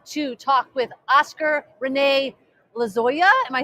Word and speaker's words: Lozoya: But we are here at this right now to talk with Oscar Rene Lozoya.